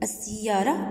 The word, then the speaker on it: السيارة: عندي السيارة بعد الأل أتى حرف مشدد، لام شمسية تكتب ولا تلفظ.